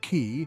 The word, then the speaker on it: Chi: bore a hole through called Chi, pronounced Ki, now called Earth from the word Eridu.